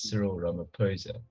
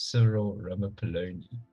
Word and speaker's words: Cyril Ramaphosa: that statement saying that the correct way to pronounce his name is Cyril ramaphosa because people thought it was several rubber polony but I still have